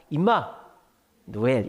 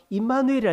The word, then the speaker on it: 임마누엘: 오늘 본문에 나오는 예 이거 말 잘해야 됩니다 임마 노엘 이러면 안 됩니다 저한테 임마 그러면 어씨 이렇게 합니다 예 우리 한국 발음을 하면 좀 이상해요 임마 노엘 어렸을 때 많이 놀려 먹었는데 네 그래서 임마누엘이라 이름이 하나 더 있어요 그